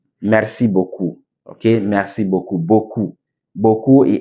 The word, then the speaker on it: beaucoup: sorry when you see a word in French that end the consant P mostly not pronounc merci beaucoup ok merci beaucoup beaucoup